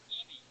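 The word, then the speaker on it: Eby: Brett, how do you say that last name? E-B-Y? Evie.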